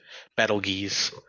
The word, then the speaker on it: Betelgeuse: yeah, the star is Arabic for armpit of the giant, so it's Betelgeuse. Battle geese.